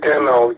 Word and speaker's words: Demo: Can you spell it for me, bud? Name is Demo.